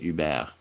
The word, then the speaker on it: Hubert: for dogs it's h even though the French don't know how to say an H but that's their letter the silent h oh yeah so you gotta be like Hubert yeah but they would say Uber but then everybody knows it starts with an H interesting I guess they